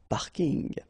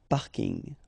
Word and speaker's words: parking: from English but still you should pronounce it the French way parking parking okay and the last